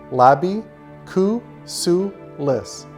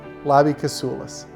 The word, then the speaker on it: Labi Kasoulis: People ask me how to pronounce my name. It's easy. It's phonetic. Labi Kasoulis. Labi Kasoulis.